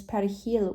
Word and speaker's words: perejil: Dominicans pronounce is perejil with a tricky Spanish R.